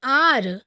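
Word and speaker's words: hour: students यहां ध्यान दीजिए आर की स्पेलिंग एच से स्टार्ट हो रही है बट प्रोनंसिएशन में ओ साउंड दे रहा है मींस हा की प्लेस पर आ का यूज किया जा रहा है आर एच साइलेंट है आ इज अ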